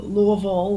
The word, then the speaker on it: Louisville: forward to that um I've been to um Louisville within the past few months and going back